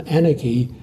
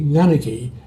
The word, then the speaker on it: Nganiki: So the town Anarchy, it should be Nganiki, so it was recorded without the NG.